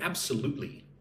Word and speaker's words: absolutely: Look at the word absolutely. Absolutely. Absolutely. Put the emphasis on the third syllable.